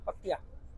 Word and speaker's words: Pattaya: कुछ पताया बोलते हैं, कुछ पटाया हाँ, बोलते हैं। पर वो दोनों ही गलत है ना, पत्तिया। तो ये पत्तिया को एक सुर में बोलते हैं, वो सुर चलो हम नहीं है थाई तो हम नहीं बोल सकते, पर पत्तिया तो बोल सकते हैं।